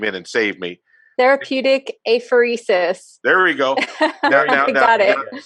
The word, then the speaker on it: apheresis: So Yvette was so wonderful to talk about the new therapy, which obviously, I practiced pronouncing that word and failed. So Yvette came in and saved me. Therapeutic apheresis.